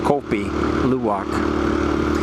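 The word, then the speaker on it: kopi luwak: But they also have another type of coffee that they're famous for and that is kopi luwok, right? Coffee luwalk or pronounced kopi luwok.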